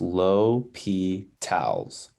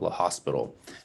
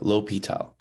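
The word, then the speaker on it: L'Hôpital: a note on how you pronounce it it's pronounced low p towels not the hospital um which a lot of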